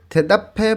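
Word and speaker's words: 대답해: নিচে লেখা আছে থেদাফে ভয়। দেখেন বিউব বাচ্ছিমের পরে যদি হিউত থাকে তখন বিউবটা হিউতের স্থানে গিয়ে ফয়ের মতন উচ্চারণ হয়। এইখানে উচ্চারণ হবে থেদাফে। হ্যাঁ, থেদাফে বয়, উত্তর করে দেখুন বা উত্তর করে দেখো।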